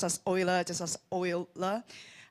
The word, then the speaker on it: Euler: So yeah, let's move on to the fourth challenge posed by Patricia from Euler Finance.